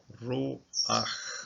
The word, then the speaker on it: ruach: Pata is a vowel, and it's called a frutifa because it sneaks itself in at the start of the syllable, this last syllable, ruach, okay.